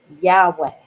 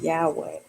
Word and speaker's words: Yahweh: While it is almost, if not quite certain, that the name was originally pronounced Yahweh.